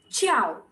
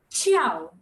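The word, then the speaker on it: 叫: Now, those who are newcomers who don't know why J is pronounced as ch, there are specific letters in Mandarin language which are pronounced in specific way. So the J is pronounced as ch. There's an entire sheet for that.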